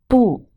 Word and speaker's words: 不: 不 has two sounds when it is pronounced alone as like no, 不. It is pronounced as the fourth tone.